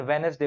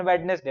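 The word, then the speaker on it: Wednesday: हालांकि इसको American वेनेसडे बोलते हैं। अमेरिकन ये अमेरिका वाले और ये ब्रिटेन वाले डी को साइलेंट कर देते हैं यहाँ पर, तो वेनेसडे पढ़ते हैं, अपन वेडनेसडे पढ़ेंगे, पर आंसर अपना वेडनेसडे है।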